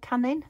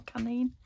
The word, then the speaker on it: Canin: And they can be, what are they, Royal Canin, I think they're called, or Canine. Not canine, but it's spelt like canine, but they're cat biscuits.